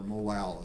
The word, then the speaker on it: molal: by 0.125 is 0.4 molo kind of a hard word to sound isn't it or molal as some people i think pronounce it that way too it sounds almost easier